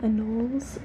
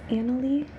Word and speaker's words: anole: Some people call them anoles, but I'm pretty sure the correct way to pronounce it is annelie. It's A-N-O-L-E, annelie.